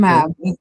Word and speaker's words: Aimable: Aimab. It's French. Aimab-. Oh? No, Aimab-. Aimab is French because Saint Lucia was 7 times British, 7 times French.